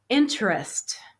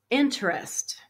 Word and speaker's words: interest: silent debt financing financing interest interest okay first syllable has a stress pay off pay off